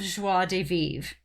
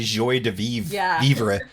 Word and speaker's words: joie de vivre: pleasure and lots of joie de vivre i'm sure i'm not pronouncing that right but i'm trying no you nailed it really we used to say joy de we got corrected on that one yeah people were like